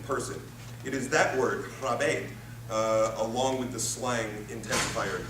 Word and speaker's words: raibéad: 1992, the Irish word, I think this is pronounced raibéad, R-A-I-B-E-A-D, is defined as a big hulking person. It is that word, raibéad, along with the slang